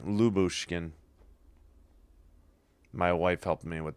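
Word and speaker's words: Lyubushkin: Leouchkin on the shot. Lub. No, Lubushkin. Yeah, that's right. You ignore the Y. Lubkin.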